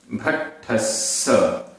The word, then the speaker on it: भट्ठस्स: उच्चारण, दंसण भट्ठा, भट्ठा आधा टा और ठा, भट्ठा भट्ठा, दंसण भट्ठस्स, भट्ठस्स आधा टा ठा आधा सा पूरा सा, भट्ठस्स।